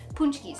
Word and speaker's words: Pączki: today we are making punch keys yes punch keys i know it's spelled really funny in the title but it's pronounced punch keys they are a polish